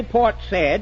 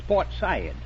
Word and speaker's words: Port Said: And you don't say Port Said, it's Port Said.